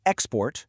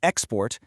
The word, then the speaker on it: export: For instance, if I say export with a stress on that first syllable, I'm talking about a noun, a thing. An export is a product we're selling. But now watch this. I just shift the stress and say export.